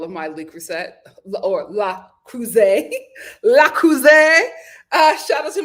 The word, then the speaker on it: Le Creuset: was unpack all of my Le Creuset or La Creuset. La Creuset. Shout out to my French subscribers who told me how to pronounce it. La Creuset. Le Creuset.